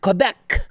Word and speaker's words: Quebec: hell hasn't in the province of quebec uh pronounced quebec for all of those you still think french